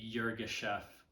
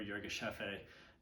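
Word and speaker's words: Yirgacheffe: wash region in the yurga chef or yoga chef it can be pronounced either way um in ethiopia it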